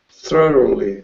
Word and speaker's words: thoroughly: listen to me thorough thoroughly thly thly but focus on the beginning thorough thorough thorough that's it thoroughly thoroughly thoroughly good so you have to put the r on the second syllable Thor thoroughly thoroughly thoroughly